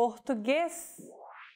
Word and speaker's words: Português: As we saw in the last example, circumflexes mark when vowels are pronounced with closed pronunciation. B, Português.